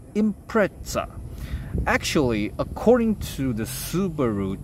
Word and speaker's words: Impreza: pronounce it not by impressa you should call it impra please action right here impra this name comes from impression but impression is too light at pronunciation so they get the S to Z so it should be